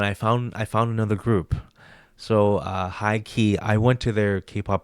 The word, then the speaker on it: H1-Key: But they're called high key, but it's spelled H1, then a hyphen, then key.